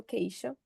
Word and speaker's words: Queijo: So Falco is a cheesemonger responsible for Galeria do Queijo. Is that correct? Or I'll try my That's good. Portuguese pronunciation.